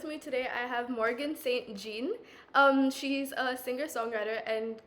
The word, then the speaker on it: St. Jean: and with me today I have Morgan Saint Jean um she's a singer-songwriter and could you introduce